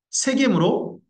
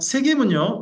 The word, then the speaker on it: 세겜: 세겜으로 올라가는 것까지 해가지고 중부전쟁이 됩니다. 자, 세겜은요, 양쪽 산이 있습니다.